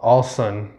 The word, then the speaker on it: Allosun: Oh, Allosun. I guess the O is silent.